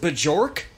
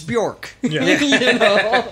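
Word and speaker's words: Björk: bjornhild what yeah yeah is it bajork no it's bjork amazon find that man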